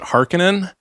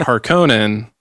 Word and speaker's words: Harkonnen: There are three types of Dune fans: those that pronounce it Harkonnen, those that pronounce it Harkonnen, and those that vacillate back and forth.